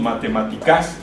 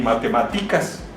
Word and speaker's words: matemáticas: Matemáticas. No decimos matemáticas ni matemáticas, decimos matemáticas y siempre se van a acentuar.